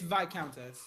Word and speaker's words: Viscountess: It's Viscountess. It's Viscountess. Yeah. You don't pronounce the S.